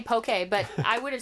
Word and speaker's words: POKEY: I've been doing some pokey experiments using two-tone and high-pass filters, so I'm going to introduce this into the music. We'll see how it goes. How do you pronounce P-O-K-E-Y? Pokey? Yes.